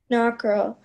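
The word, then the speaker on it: nockerl: Knockerel is a noun. Knockerel. Could you repeat the definition? Knockerel means a rich, light dumpling. Knockerel. Are there any alternate pronunciations? There is knockerel and knockerel. Knockerel.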